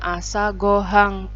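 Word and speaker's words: 朝ご飯: ini materinya adalah judulnya asagohan yah Ini bacanya assago hang oe ini partikel ya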